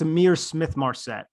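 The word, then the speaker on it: Ihmir Smith-Marsette: Let me let you pronounce the wide receiver out of Iowa. That's Amir Smith Marset.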